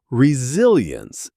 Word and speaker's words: resilience: Resilience is worth ending on. Stress lands on the second syllable.